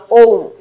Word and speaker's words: ওম: এখানে 4টি অপশন দেখতে পাচ্ছি, তার মধ্যে থেকে আমাদের এর উচ্চারণটা যদি আমরা খেয়াল করি, উচ্চারণটা হবে অ, সরি অ, তারপরে রস্যু এবং তারপরে ম, অর্থাৎ ওম, এরকম উচ্চারণটা হবে ওম।